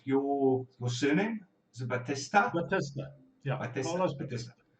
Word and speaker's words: Batista: Batista. Yeah, Batista. Carlos Batista. Like the fast one at the end, Batista.